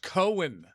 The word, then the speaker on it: Cohen: And it's pronounced Cohen. Okay? That's how you pronounce it.